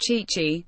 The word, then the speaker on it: Tite: Adena Leonardo Bacchi, better known as Tite, pronounced Chichi, is revered in his homeland.